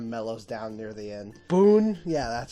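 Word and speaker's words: Boun: she kind of mellows down near the end boon yeah that's how you say his name is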